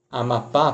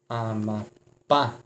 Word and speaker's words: Amapá: ou seja pú mas a palavra é Amapá por exemplo Amapá quem a sílaba mais forte na última sílaba Hum E aqui foi